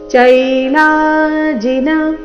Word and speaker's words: ಚೈಲಾಜಿನ: ಇದೆ ಅದಕ್ಕಾಗಿ ನಾತಿನಿ ಚೈ ಚೈಲಾಜಿನ ಚೈಲಾ ಲಾ ದೀರ್ಘ ಚೈ ದೀರ್ಘ ಲ ದೀರ್ಘ ಚೈಲಾಜಿನ ಕುಶೋತ್ತರಂ ಕುಶೋತ್ತರಂ ಗೊತ್ತಿದೆ